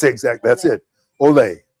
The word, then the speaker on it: OLE: Is that how I pronounce exactly? That's it. Olay. Olay.